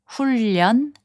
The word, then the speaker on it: 훈련: 훈련, which means training, is pronounced as 훈련.